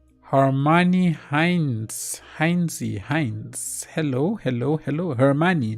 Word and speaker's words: Hermione: Hermione, not Harmony. Hermione.